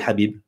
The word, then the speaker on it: Habib: Donc c'est Habib.